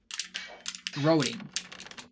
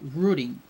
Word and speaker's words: routing: I was saying roading for a while and I thought that was the correct pronunciation. And then I look up on Google and Google told me the UK pronunciation, which is rooting, right?